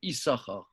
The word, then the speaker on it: Issachar: Le deuxième signe ne se prononce pas. On dit Issachar, effectivement.